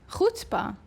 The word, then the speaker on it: chutzpah: we're gonna talk about hutzpah what is she it's our podcast she already has hers yeah the name of our podcast hutzpa time that's how you say it time so it's a